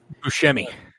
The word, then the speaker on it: Buscemi: Buscemi.